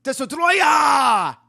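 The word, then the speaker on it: Destoroyah: The name of the monster, surprisingly, isn't Destroyer, it's Destruoia!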